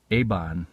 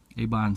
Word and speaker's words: Eibon: This is a box that I got from, I think it's pronounced Eibon Press, E-I-B-O-N Press, and it's a company from California.